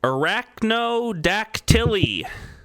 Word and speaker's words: arachnodactyly: Arachnodactyly. Dactyly. Well, how am I supposed to know? Arachnodactyly. It's one word. The first part is arachno.